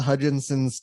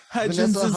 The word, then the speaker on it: Hudgens: I remember I got to see Vanessa Hudgensen's tits. That was cool. Now she does birth control ads. Neat. Is there that extra syllable in her name? Hudgens.